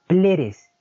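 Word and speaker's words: πλήρης: Por ejemplo, aquí vemos usted esta palabra en griego que se pronuncia pleres y significa lleno, y se usa en frases como lleno de los cielos y la tierra.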